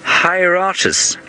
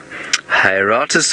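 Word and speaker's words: Hieraaetus: Hieratus. Hieratus wahlbergii is now his name, and he's got a similar name to the booted eagle. He's also Hieratus pennatus.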